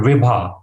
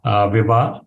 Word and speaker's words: Vibha: Could you say it and spell it, please? Sure, VIBA. VIBA.